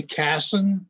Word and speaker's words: Cason: way you want um i say cassin because of the a being that way i mean all right